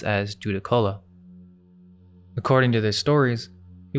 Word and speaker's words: Judaculla: The Cherokee called this giant Zukallu, which we now pronounce as Judakola.